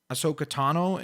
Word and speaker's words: Ahsoka Tano: also do want to mention that I sometimes mispronounce Ahsoka's name because I say instead of a ahsoka ahsoka tano is her name I say ahsoka I don't